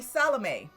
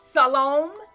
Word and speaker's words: Salome: the garden with Salome, which I guess I've been pronouncing it wrong, because it comes from Shalom, right? So I guess it's Salome, right? Her name comes from Salome.